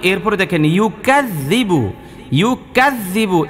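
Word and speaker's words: يُكَذِّبُ: কোরআন কারিমে দেখেন এই যে আরওয়া আই তাল্লা জি, এরপরে দেখেন ইউকাযযিবু, ইউকাযযিবু, এই জালের উচ্চারণটা শক্ত হবে না নরম হবে? নরম হবে।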